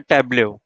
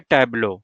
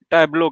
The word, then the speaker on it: Tableau: का टॉपिक है टेबले इसको हम लोग पढ़ेंगे टैबलो है ना। इसके कई नाम कई तरह से प्रोनाउंस कर सकते हैं। यह हम लोग जो प्रोनाउंस करेंगे अपने क्लास के दौरान वो हम करेंगे टैबलो के नाम से।